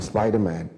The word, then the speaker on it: Spydaman: I am Spider-Man I I'm Spiderman i m s SP y d a m n on YouTube it is Spider-Man Spartan Spartan as the Relentless 300s you know so we're always spell it out s p y d a m a n spart s p a